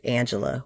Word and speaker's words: Angelia: I know her name she asked that her name be pronounced Angela but my name is